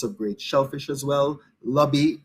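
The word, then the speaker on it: lambi: great shellfish as well lobby it's spelt l-a-m-b-i but it's pronounced lobby remember we always talk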